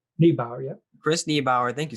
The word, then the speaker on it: Niebauer: Niebauer? Niebauer, yeah.